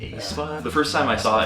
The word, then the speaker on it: aespa: Wait, how do you pronounce it in Korean? aespa. aespa. aespa. Because honestly, it started with an A and I was like, aespa?